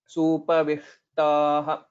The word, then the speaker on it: सूपविष्टाः: So the next step that you'll have to go with is to pronounce shakara exactly. Supavishtaha. So the subtle difference, if everyone can note, vishta, vishta. The murdhanya shakara we'll have to pronounce by taking our tongue towards our cerebrum or towards the murdha. Supavishtaha. So that will be the correct pronunciation.